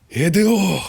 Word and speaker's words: Hideo: Hideo Kojima.